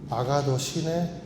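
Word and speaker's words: ἀγαθωσύνη: 아가도 시네. 아가도 시네. 어른도 쉬고 아가도 쉬고 나가도 쉬네. 예, 뭐 이런 의미가 있습니다. 이렇게 발음을 하는데이 의미가 뭐냐면 양선이란 것은 어, 이해하기 쉬워요.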